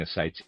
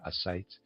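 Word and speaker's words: ascites: Readers aside, I'm pronouncing a sites a s c i te. Forgive my pronunciation there. sites and the reader's aside.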